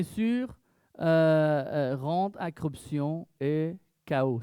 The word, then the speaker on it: chaos: La richesse sans fois bien sûr euh rentre accruption et chaos. C'est ça on prononce en français. Ouais. KO.